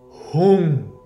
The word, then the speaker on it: Hung: It is Om Lang Vang Rang Yang Hung Ishanaya Hung. That last syllable, Hung. Looks like hung, but pronounce the U as a U. Hung.